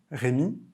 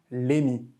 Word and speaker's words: Rémi: Autre exemple, mon prénom, Rémi, que j'orthographie Hemi, les Coréens qui lisent mon nom, Rémi, le prononcent toujours Lémi, parce qu'ils partent en fait de la prononciation à l'anglaise, c'est-à-dire Rémi. Moi, j'ai fait le choix